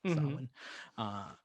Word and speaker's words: Samhain: uh, to celebrate Samhain, the holiday that's spelled Samhain. It's Samhain, and the kids burn a